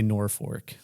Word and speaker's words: Norfolk: We say Norfolk. Norfolk is Norfolk.